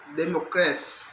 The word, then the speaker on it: democracy: That the word democracy is pronounced democracy.